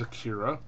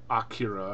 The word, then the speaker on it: Akira: And the first one up is Akira, or Akira, if you want to say it how they say it in the movie.